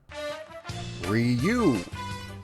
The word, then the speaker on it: Ryu: due diligence let's all learn the word together ryu ryu ryu there we go i have now learned the proper pronunciation of the word thank you youtube now